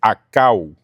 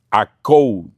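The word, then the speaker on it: ἀκούω: Esa palabra oyen, en ese pasaje, en el original es la palabra 191, la palabra griega que es akau. Akou, lo pronuncian otros, ¿verdad?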